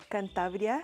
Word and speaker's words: Cantabria: to stitch called cantabria now I'm pronouncing it in Spanish because this is in Spain cantabria and it's a dress